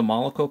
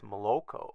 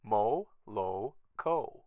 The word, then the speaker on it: Moloko: affecting the paint below this is a Mollica car I believe that's how it's pronounced it's Moloko mo low co Moloko he is a fantastic